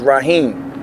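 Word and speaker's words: Raheem: Okay, how do you spell it for us? Z-A-H-I-R. My last name is Rahim, R-A-H-E-E-M.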